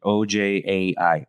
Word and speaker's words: Ojai: My pronunciation. Oj a i.